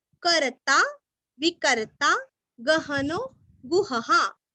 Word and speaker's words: गुहः: ग कर्ता विकर्ता गहनो गुहः गुरस्व और विसर्ग के आगे ह अथवा हा गुहः अथवा गुहः उद्भव क्षोभणो देव श्रीगर्भ